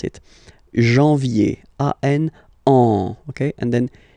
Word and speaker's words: janvier: no wow no but in a way anyway janvier so that's the way to pronounce it janvier uh oh ok and then yay yay yay